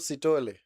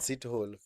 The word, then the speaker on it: Sithole: Oh, oh, the guy is actually called Sitole. Oh, wow. I've learned that today. I've always pronounced that name as Sithole. I didn't know it was Sitole.